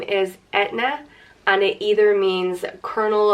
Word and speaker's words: Eithne: There's Eithne, Eithne, or Eithne. And you do pronounce the H in it. So the H isn't silent.